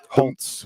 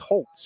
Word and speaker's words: Holtz: says on the website it says it's pronounced Holtz with a t i don't go to